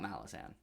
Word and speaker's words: Malazan: the question of whether i think malazan not malazan i can at least pronounce this right malazan um malazan yeah malazan